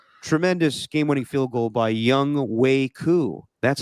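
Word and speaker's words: Younghoe Koo: And then they got a tremendous game-winning field goal by Young Wei Koo.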